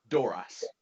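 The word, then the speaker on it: Dorass: Doras. Doras. Thank you. Would you like to spell it? That might be useful. Yes. Doorass.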